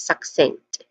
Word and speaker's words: succinct: Pronunciation wise we have two distinct sound starts with suck. s which is a short a vowel sound and then sink which has a nasal sound in the middle the ng sound. Okay, a short e sound also. So this is succinct. Lastly we have rhetorical.